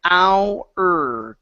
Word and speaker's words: hours: Okay, it's our.